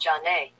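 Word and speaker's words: Zhané: deejay is a song by American R&B group Sunday record it for their debut album pronounced John Day mmm 19 1994 Wow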